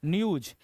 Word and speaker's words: NEWS: दो लगाना है, अलग अलग होगा तो, जैसे न्यूज NEWS, है ना।